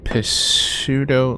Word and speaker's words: pseudo: Pseudo lifeform. Is that an actual word? P-S-E-U-D-O. Pseudo, it is. Pseudo. Oh, pseudo. That's how you say it, pseudo.